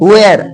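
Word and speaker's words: where: लेकिन यहाँ डब्ल्यू एच ई आर ई, डब्ल्यू की बाद एच आया तो क्या बोलेंगे वेयर। एक्चुअली इसका ध्यान से सुनना, इसका करेक्ट प्रोनाउंसिएशन जो होता है वेयर भी नहीं होता, वेयर, वेयर, वेयर।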